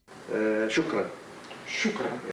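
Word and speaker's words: شكرا: Shukran.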